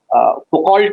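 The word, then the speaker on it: Foucault: मिसल फको फकल्ट लिखा जाता है क्योंकि फ्रेंच है तो फको प्रोनाउंस किया जाता है तो मिसल फको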